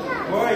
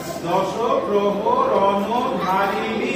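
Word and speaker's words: দশপ্রহরণধারিণী: জাগো দশগ্রহ রণধারিণী যশগ্রহ রণধারিণী উচ্চারণ হচ্ছে দশগ্রহ রণধারিণী দশগ্রহ রণধারিণ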